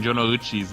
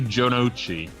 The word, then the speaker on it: Jonouchi: So I noticed that you too have been pronouncing Jonouchi's name incorrectly. You said Jonouchi, but you didn't say Jonouchi. That's the way they pronounce it.